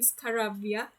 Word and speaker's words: Scarabia: first video earlier um i've been pronouncing are wrong i've always in that video when i was analyzing the opening i've always said i'm scared yes caribbean scary when it should have been scarabia yes um my apologies